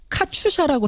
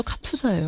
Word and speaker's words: 카투사: 제가 자꾸 카추샤라고 그런다고 지적을 해주셨는데 손탐정님, 네. 카추샤예요, 카투사예요? 카투사입니다. 카투사입니다. 네, 카추사라고 하면은 카투사 분들이 안 좋아합니다.